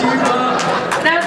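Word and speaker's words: D.Va: What's funny though is I'm the one who I didn't know her name was like that you pronounce it Diva. I was like, oh, it's like DVA, and my roommate was like, you're stupid Francis, it's Diva.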